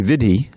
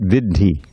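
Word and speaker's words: viddhi: When you see a double letter, like that double D in Vidhi, that we tend to lapse into an English thing like happy, you know, double P doesn't slow things down at all. But that means that it should not be Vidhi, but Vidhi. Yeah, the first syllable is heavy. It's a quarter note. It's not an eighth note.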